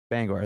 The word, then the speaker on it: Bangor: Bangor. Bangor, yeah. Bangor.